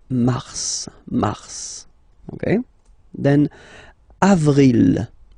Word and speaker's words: mars: okay then mar okay so in a way it's an exception because normally final S is not pronounced in French okay we've got some exceptions and this one is one of them so Mars pronounce the final S mars mars okay then